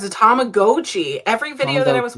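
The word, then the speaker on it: Tamagotchi: the first one and you told me the correct pronunciation uh which I was always raised that was a tomagotchi but it's a tomagoi yeah it's a tomagoi every video that I was watching and apparently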